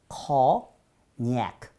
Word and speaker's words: cognac: cognac 또는 con 이렇게 하면 더 cognac. 근데 프랑스 사람들 어떻게 발음하느냐? FR French. 프랑스 사람들은 cognac 하면서 강세를 뒤에 두네요.